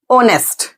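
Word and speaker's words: honest: एच H silent है यहां पर क्योंकि हम इसको क्या रीड कर रहे हैं? ओ ऑनेस्ट। तो यहां पर हमें साउंड मिली ओ की तो हमने इसके आगे क्या यूज़ किया?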